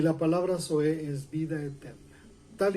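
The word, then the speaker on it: ζωή: La palabra para vida eterna en griego se pronuncia zoe.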